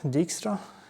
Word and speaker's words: Dijkstra: originally by which is properly pronounced name dijkstra dixtra how to pronounce the Dutch name properly but they have